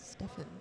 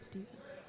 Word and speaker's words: Stephen: You know, my brother's name is spelled exactly the same way, but he pronounces it Stefan, not Stephen.